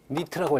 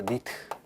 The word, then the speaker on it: 니트: 그래서 그 휘도의 단위는 대부분 보면 니트라고 읽어요. 이거 니트.